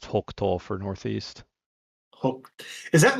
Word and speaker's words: 北東: pronounced Hokuto for northeast.